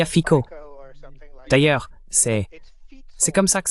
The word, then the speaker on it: Fico: Et bien oui, bien sûr, il y a fico. D'ailleurs, c'est comme ça que ça se prononce. Ce n'est pas Fitzo ou quelque chose comme ça, c'est Fico avec un faux accent de la BBC.